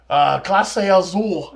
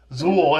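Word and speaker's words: Clase Azul: Classe Azul. Okay, then. Zool. It has Zool in the name.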